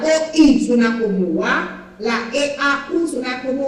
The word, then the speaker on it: eau: Et on a aussi la prononciation EAU, que suena como O. La EAU suena como O. Par exemple, on peut dire l'eau, significa agua en español. En français, on dit eau.